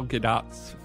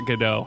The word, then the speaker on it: Gadot: that's pretty big EP isn't it actually pronounced Gadot it's I don't know that's the close I mean she's like Israeli right so it's there's like subtlety to the pronunciation that I'm just never going to pick up on but it's not gdau I know that much there's a lot of